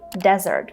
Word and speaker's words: desert: So basically, if you're talking about the dry, sandy place where camels live, you have to say desert. For example, the Sahara Desert.